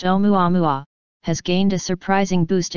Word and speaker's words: Oumuamua: through the solar system an object called whom you amou a-- pronounced omoi wa has gained a surprising